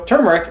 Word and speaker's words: turmeric: survival talking about it's turmeric which people usually pronounce turmeric um but there's an r in there there's there's an r